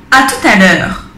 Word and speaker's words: à tout à l'heure: Y también podríamos decir à tout à l'heure. À tout à l'heure. Hasta ahora. Fijaros que ahí la T se pronuncia porque está seguido de una vocal.